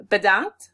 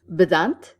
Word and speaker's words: bedankt: Bedankt. Bedankt?